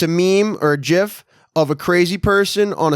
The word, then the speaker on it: GIF: just call it a Jiff is that what I said it's a gif man shites okay go ahead it's a hard G not a soft you suck this kid